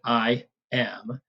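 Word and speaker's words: iamb: I am, it's pronounced like I am. The B is generally silent, unless we're making an adjective out of it, as we'll see.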